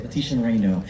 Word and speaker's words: Leticia Moreno: And is your illustrator, is just her name pronounced Leticia Moreno? Yeah. Leticia Moreno.